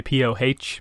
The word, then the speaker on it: PoH: Which, you know, obviously is one of those things where like in English it always feels a little silly that like the name is pronounced Pooh basically, but I suppose you